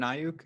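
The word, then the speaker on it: Aiyuk: Ayuk? Yeah, Brandon Ayuk.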